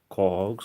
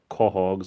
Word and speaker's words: quahog: Some people say quahogs, like with a K, and some people pronounce it Quahog, but a lot of people pronounce it Quahog mostly because of the show Family Guy. But it all depends on what part of Rhode Island you're from.